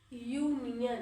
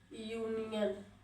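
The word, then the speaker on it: union: क्योंकि जब हम यूनियन को उच्चारण करते हैं तो इसका साउंड क्या आता है, यूनियन, इसका साउंड आता है कॉन्सोनेंट, ठीक है, यूनियन, यूनियन, यूनियन है ये कॉन्सोनेंट साउंड है, ठीक है, कॉन्सोनेंट साउंड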